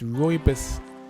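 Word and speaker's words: rooibos: see pronunciation uh let's let's listen to that Rus so it's ryus and Cherry and Peach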